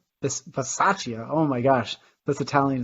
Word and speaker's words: Bisaccia: How do you know how to pronounce his last name? I think it's with like a CH. Basikia? I thought it was Pistachia. Bisaccia.